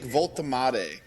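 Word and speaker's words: Woltemade: How do you pronounce his name? 6'6", Nick Voltemade.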